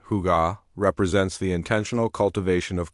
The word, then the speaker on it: hygge: Fundamentally, Hi, pronounced with a soft huga represents the intentional cultivation of comfort, contentment, and overall well-being through the mindful appreciation of life's unpretentious pleasures.